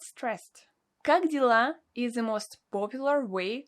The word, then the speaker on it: как дела: Do you want a great tip on how to remember the expression как дела? I say, how are you in Russian, Vince? Cock dealer.